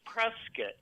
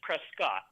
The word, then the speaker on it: Prescot: to hear it okay it's Prescot not PR Prescott and I see a